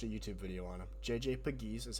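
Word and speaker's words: JJ Pegues: And then on defensive side, we brought in JJ JJ Piggies. I looked it up and I watched a YouTube video on him. JJ Pagiz is how you say his name and Tonka Hemingway.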